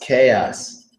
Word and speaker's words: chaos: generally have it yes this word is pronounced chaos now what is chaos